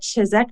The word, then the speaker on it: Chiseck: am very excited for today I have Erica chizek oh Eric I didn't ask how to pronounce your name you're doing great did I